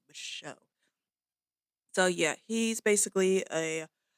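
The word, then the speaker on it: Micheaux: Yes, the X, that's how you pronounce his last name, Michelle.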